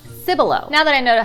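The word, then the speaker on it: Cibolo: So this word took me a while he would think it's pronounced simbolo but no, it's pronounced Sybil.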